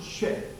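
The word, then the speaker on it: Sheth: 하나님께 내게 가인이 주는 아벨 대신에 다른 씨를 주셨다 하며 하나님은 하와의 태를 다시 여셔서 셋, 정확히 발음하면 쉐, S-H-E-T-H, 쉐뜨라고 하는 이 발음이 되겠습니다.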